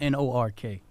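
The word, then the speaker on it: Newark: you say like that though this is it's pronounced n o RK I know take them seriously that's what is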